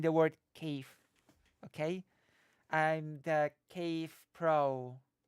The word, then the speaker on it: Kiev: So that means I that means that Kiev is actually the correct way to say the name of the city, just so you know. With that sort of soft V. Kiev.